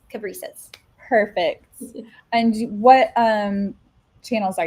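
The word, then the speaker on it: Cabrices: Cab, like a taxi cab. Rice, which I love to eat, and then an S at the end. So Cab, Rice, S, Caprices.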